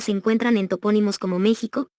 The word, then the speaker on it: México: La pronunciación de esta X, en esas y otras palabras, es ficativa velar sorda, es decir, suena como J. Constituye, por tanto, un error ortológico articularla como K es 23.23.